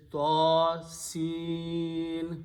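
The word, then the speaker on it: طس: Prophet ﷺ recited this way, that he stretched the sound of Sin and did not stretch the sound of Ta. So this is Ta, Sin, that's the way you have to recite it.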